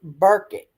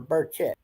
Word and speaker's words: Burchett: And exactly what I said then has now come out via Tim Burkett, right here, or Burchett, I believe is how you say his name, right here.